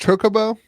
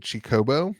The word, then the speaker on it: Chocobo: It's pronounced Chocoo. That's why I've always pronounced it since I played the game as a Wii lad. I'm pretty sure on the video I pronounced it Chicobo.